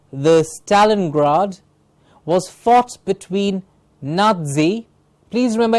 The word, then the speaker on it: Nazi: The Battle of the Stalingrad was fought between Nazi. Please remember, N-A-Z-I is pronounced as Nazi with a T in the middle, like a T-Z sound in the middle.